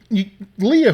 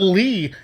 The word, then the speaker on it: Leah: And he says, oh, Leah, who you always write about on the cards. I said, yeah, Lee is just for short. I thought Lee is how you say Leah.